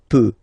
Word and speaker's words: peux: So the first form that we'll have is je, as usual, so je peux, okay? Final X not pronounced here, okay, so you get the X but you don't pronounce it, so basically you get